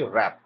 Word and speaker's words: wrap: র্যাপ ওয়ার্ডটার মানে কি, WRAP, এটা ডাব্লিউ দিয়ে শুরু হলেও উচ্চারণটা র্যাপ। আবার বলছি র্যাপ।